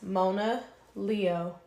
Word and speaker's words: Mona Leo: Leo Mona Lisa monoleo just to clarify It's Mona Leo like Mona Lisa but scratch off the